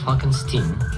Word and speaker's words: Frankenstein: Non, mon nom se prononce Frankenstein.